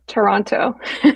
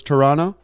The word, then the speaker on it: Toronto: Toronto. Boom. Wow. Are you So- Canadian? But is it not true that some people say drop the hard T at the end, so it's Toronto?